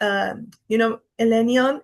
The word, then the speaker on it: Elenion: So I really loved, Elenion. And it's like, I'm pronouncing it like the Tolkien way.